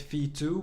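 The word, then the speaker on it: VTWO: basis the third one I call it fee two but you actually spell it v t w o which is the Vanguard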